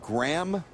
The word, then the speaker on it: Graham: Pay no attention to the consonants. It's pronounced Graham Faw.